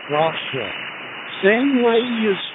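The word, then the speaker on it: Rocha: Rosha Rosha.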